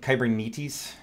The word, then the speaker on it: Kubernetes: gotten used to it my understanding is that we we butcher the pronunciation of kubernetes like we had some folks doing some training in Greece and I'm like did you get a hard time for how we all mispronounce it apparently it's like and Qyburn Metis is is is more more right so I don't know